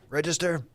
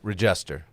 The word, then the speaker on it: Regester: Damn, Dan Register. How do you say his last name? Regester. I know. It's just not Dave- Register.